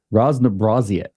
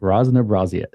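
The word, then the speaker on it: разнообразие: I'm trying to learn how to say it rzn braet is how you actually say that okay I got that right Ros braet and what what that means is diversity what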